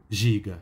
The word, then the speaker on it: ZIGA: o seu mangá a acabar como ziga ou em sua pronúncia em japonês giga escrito por hoku Rosano